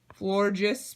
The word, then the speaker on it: Florges: Also found a Florges Break.